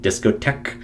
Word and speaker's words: discotheque: be so EH, and the QU, the U is silent to some extent because it's just the in discotheque. So I would say a K is the one there. And then the E is silent in discotheques. It just goes from the K sound straight to the S. It's not discotheques.